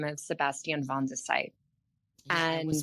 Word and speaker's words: Van de Sype: Today we have the pleasure of speaking with a great producer by the name of Sebastian Vandesight. And I was wondering how to pronounce that. Vandesite.